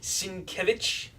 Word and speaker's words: Sienkiewicz: I believe it's pronounced Sienkiewicz.